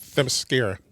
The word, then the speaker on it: Themyscira: Themyscira. I know, I can never pronounce it right. It's Themyscira. Themyscira.